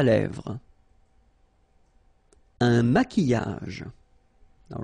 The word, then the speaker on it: maquillage: Un maquillage. Okay, so here, same rule, QU, but then U is not pronounced, so qui, and then y. Maquillage.